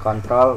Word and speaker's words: CTRL: Ini CTRL di sini, bacanya kontrol ya.